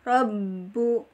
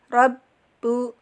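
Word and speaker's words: رَبُّ: dialirkan dan boleh tertekan robbu robbu dan tipis Ya sifatnya tim tipis cara pengucapan rileks tipis tidak boleh di Rob Rob itu dari Tuhan teman-teman rileks ya mengucapnya ringan robbu Hai robbu Rabu seperti itu yang selanjutnya adalah huruf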